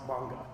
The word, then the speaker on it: manga: is manga what's pronounced manga with that long a mang it's Comics originally